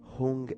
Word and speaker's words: Hung: Hung es H-U-N-G. Hung, y la H es como una H inglesa, o diríamos en castellano una J suave.